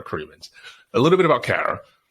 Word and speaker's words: Cremeans: I call her Cara Cremant because I do have a friend in France with the same last name and they pronounce it Cremant. So you will eternally correct me for doing that as a default, but Cara Cremeans.